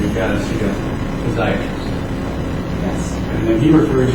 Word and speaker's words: physiatrist: Well, he told you needed to see a physiatrist rather than a surgeon. Is that right? Yes. Or I should say physiatrist. Sometimes they get that extra syllable.